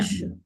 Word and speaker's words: je: That's a that's a word that is very simple that you can practice the E. Because the G with the E is very simple to take out the E nicely. The sound of the E itself.